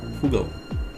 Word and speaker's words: fugl: It's actually fugal. Why not? Fugal. What is fugal? It's fugal. It's bird. Ah. But the big one. No. No. It's just a bird. Okay. How do you spell it? Fugal. F U G L E. Fugle. It's It Yeah, it's uh It sounds like fugal.